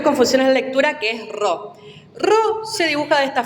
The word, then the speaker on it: ro: Se tienden a confundirse mucho de pronunciar la ro como una P. La ro, la que parece una P, es una R.